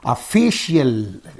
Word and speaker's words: official: So the syllable preceding the suffix is free. So you say therefore official.